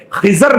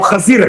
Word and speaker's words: خضر: مطابق آپ نبی نہیں، بعض لوگ سمجھتے کہ خضر، بعض لوگ اسے خضر پڑھتے، بعض لوگ اسے خضر، صحیح تلفظ جو ہے خضر نہیں، وہ خضر ہے۔ وہ تو خضر علیہ